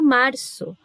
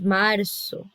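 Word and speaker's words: marzo: Por exemplo, a palavra março, né, do mês de março, se escreve com a letra Z, mas eu falo março. Ó o som de S, março.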